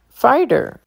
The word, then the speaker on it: fighter: Danger diver diver fighter T sounds like a d fighter folder folder funnier funnier